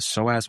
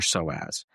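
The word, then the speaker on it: psoas: Now, we talked a little bit about the soaz muscle. And the soaz muscle, it's spelled P SO A S.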